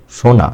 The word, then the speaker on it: সোনা: বোন না বোন আর সোনা সোনা এভাবে না সোনা এভাবে এক অক্ষর হলে এই ওকারটা হবে দীর্ঘ আর এক অক্ষর না হলে সেটা হবে এই রস এ হলো মূল কথা